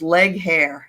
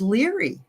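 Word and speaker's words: Legohare: not well liked and it looks like her name is leg hair it's l-e-g-o-h-a-r-e and I'm like everybody called her leg hair leg hair they hated her anyway but it's it was leery that's how you say it lyrics so bizarre I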